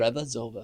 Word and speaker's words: Revazova: I'll probably say your last name wrong. Revazova. Is that right? That's right. Yeah, thank you. Revazova.